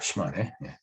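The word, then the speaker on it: 島根: 그 섬도자를 시마라고 읽죠. 그래서 그 다케시마라고 얘기를 하는 겁니다. 얘네들이. 그 다음에 이제 뿌리 근자를 리라고 읽습니다. 얘네들이. 훈독을 하는 거죠. 그러니까 시마네 현의 이름은 다 혼독을 하는 겁니다.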